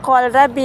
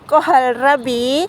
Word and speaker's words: kohlrabi: adalah batang ya teman-teman kol Rabi bukan kol Rabi ya bacanya itu ada hannya jadi kohal Rabi e berasal dari Eropa